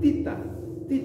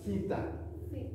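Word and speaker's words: θήτα: Sering sekali saya melihat orang yang belajar bahasa Yunani, gurunya itu bilang tita, misalnya gini ya. Ini udah jelas-jelas theta. Katanya theta. Bukan theta. Akhirnya nanti theos. Yang salah siapa? Gurunya apa muridnya? Gurunya. Gurunya. Bukan theta tapi theta.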